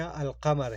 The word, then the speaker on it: القمر: وجہ تسمیہ القمر ہے۔ عربی اسماء میں جن حروف سے پہلے الف لام لکھا جائے اور ان کا تلفظ کیا جائے، یعنی الف لام پڑھنے میں بھی آئے، حروف قمری کہلاتا ہے۔ مثلا القمر، العصر، الفجر وغیرہ، ان میں ہم